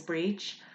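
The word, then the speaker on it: Bríd: enough tiny little letter is a now we pronounce that as ah so for example my name is breech and if you were saying hello breech you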